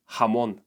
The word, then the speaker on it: jamón: You are gonna hate me, but this letter makes sound G. Again. Yes, just like in English words here or hat. What that means is that these words on the screen are gonna sound like this.